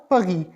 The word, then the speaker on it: Paris: So, in Italy or Italy, in Spain or Espagne, in Paris, à Paris, à Paris. Paris is known as Paris in French, Paris.